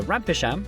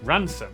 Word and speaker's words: Rampisham: Starting in Biaulio, Beaulieu, head over to Rampisham, Ransom, then down to Mousehole.